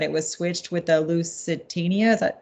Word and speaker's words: Lusitania: So another theory was that it was switched with the Lusitania. Is that how you say it? Lusitania, yeah.